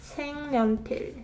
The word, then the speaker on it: 색연필: 생년필, 생년필.